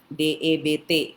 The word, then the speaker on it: debt: itu ditulis dengan kata debt, D-E-B-T. Nah, kalau bahasa Inggris dibacanya cuma debt gitu ya, bukan kayak debt mati, D-A-D-D-E-A-D, tapi D-E-B-T dibaca juga dengan debt, gitu ya.